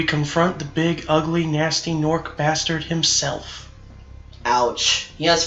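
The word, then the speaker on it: Gnorc: he is everyone nasty nork right this should be the rest of the gems Nat no naming words that have g in it but they don't pronounce the g yep that's all the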